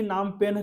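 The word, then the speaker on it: Phnom Penh: ये कंबोडिया है तो नाम याद रखिएगा इसे ही नाम पेन कहते हैं देख सकते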